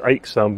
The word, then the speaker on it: Aixam: you a bit later so um aam it's pronounced aam by the way uh because it's in fact